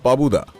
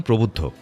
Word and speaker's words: প্রবুদ্ধ: তাহলে তোমার নাম নাম পাবুদা নট পাবুদা ওটার সঠিক উচ্চারণ প্রবুদ্ধ লম্বা গৌড়বর্ণ জার্মানটি সামনে